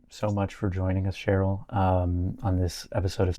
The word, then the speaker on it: Sherylle: I'm I'm on Instagram, Cheryl.